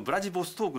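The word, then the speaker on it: Владивосток: ありますよねロシア語の発音ではウラジオストクはブラジルボストークといった感じや総連なんですけどもこのブラ爺ボストークの後ろのボストーク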